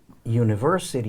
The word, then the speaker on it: university: E aí ah e tem som de Niro University Inn e esse um tem som de eo